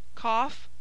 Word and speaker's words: cough: the following exceptions however GH is pronounced as a f cough chof cloth enough laugh rough Slough